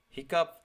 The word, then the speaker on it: hiccup: Hiccup has the sound of cup.